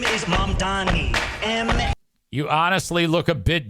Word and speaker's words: Mamdani: MANTA The name is Mamdani.